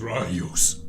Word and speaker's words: Rayus: Rayus. My name is Rayus. Rayus. Rayus. Rayus. You can travel with us, I think. I will break it down into syllables. Rayus. That is what I said.